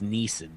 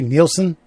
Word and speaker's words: Neeson: from bit parts, and you continuously say this leading man's name wrong every goddamn time. Liam? Yes. It's Neeson. Yes. What do I say? Nielsen? Yes. Nielsen, or some strange combination.